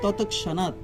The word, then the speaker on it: ততক্ষণাৎ: হ্যাঁ, কারণ ক এবং স যদি মাঝখানে ক্ষীয় থাকে আমরা কয়স উচ্চারণ করব, যদি ক্ষীয়টা সামনে থাকে তখন কটা চলে যাবে। তাহলে হবে ততক্ষণাৎ, ততক্ষণাৎ, বিলয়ম আন্তি, বিলয়ম, আন্তি, ততক্ষণাৎ।